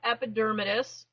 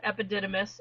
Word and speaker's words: epidermidis: talk about staph aureus staph epidermidis and i love when people mispronounce that staff epididymis i just kind of laugh um and then there's